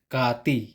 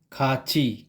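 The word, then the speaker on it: 같이: hindi madi mai maji same with consonant t kapag ang posisyon niya ay psim or last consonant at kapag ang kasunod niya ay consonant I ang pagpronounce niya ay ch halimbawa cat plus e equ ki hindi kati kachi kachi same with he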